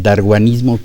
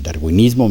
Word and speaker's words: darwinismo: en verdad ella domina el daruanismo que que ya ya se mencionó aquí, el darwinismo más eh propiamente pronunciado y Eh, yo también